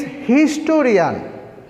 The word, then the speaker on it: historian: In the fourth sentence, he is historian. He is historian. But here we have to write A, because H is consonant and the pronunciation of the here H is pronounced. Here H is pronounced.